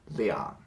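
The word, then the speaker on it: 两: to change it to this character and it's pronounced Lian so beyond good is two if you want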